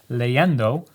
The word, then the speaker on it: leyendo: to take it and replace the i with a y and you say it the same right it's leyendo so it's and it just cleans it up because it clarifies where that syllable is right so this is